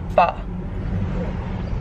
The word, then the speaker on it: pho: Anytime we've ever gotten pho, I've said pho, I called it pho, and I get called out every time on my videos because I've said we're gonna get pho, but it's called pronounced pho.